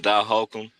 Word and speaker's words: Dot Hawkem: So, yeah, I'm Dot Hakum. On Instagram it's spelled d o t then it's a period h a w k underscore e m. And then I'm on Facebook, too, Dot Hakum.